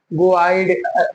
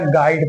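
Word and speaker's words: guide: क्या लिखा है गवाई अगर पढ़ा जाए जिस तबार से लिखा है तो क्या पढ़ा जाएगा गो आइड थोड़ा सा गो आइड है ना तो इसलिए यू लेटर यहां साइलेंट है सो हम पढ़ेंगे क्या गाइड पढ़ेंगे ऐसे ही गड नहीं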